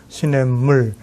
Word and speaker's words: 시냇물: 남쪽에서는 시내에다가 시옷 받침을 붙여서 시냇물 예. 뭐 이렇게 얘기했지만 북쪽에서는 시내물이라고 쓰고 물론 읽기는 시냇물이라고 읽습니다.